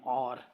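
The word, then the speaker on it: hour: This train runs at 70 kilometres an आवर। अब वही बात आ गई यहाँ पे, जो एज साइलेंट है और हमें और मतलब कि यू की आवाज़ आ रही है, ठीक है।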